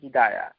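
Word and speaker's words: هداية: আমাদের যত সর্বনাশ হয়েছে হেদায়েত হেদায়েত এগুলো অশুদ্ধ আল হিদায়া এটা তা উচ্চারণ করা যাবে না আল হিদায়া এই যে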